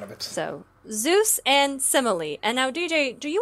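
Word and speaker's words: Semele: like it said like the first e is pronounced like the e in dress so semily okay Emily with an S at the front of it so Zeus and semily and now DJ do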